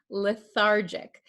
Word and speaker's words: lethargic: pronounce this word lethargic remember this is a j sound lethargic okay the patient feels